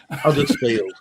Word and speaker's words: Huddersfield: A real person from Huddersfield doesn't pronounce the H. Huddersfield.